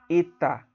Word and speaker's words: eta: Então você tem o epsilon, que também tem som de E, só que como se é pronunciado como se tendo um acento agudo, epsilon, tá? E eta, um som fechado, como se tivesse um acento circunflexo, tá?